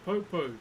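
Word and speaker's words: poupou: This is a popo. P O U P O U is how you spell it.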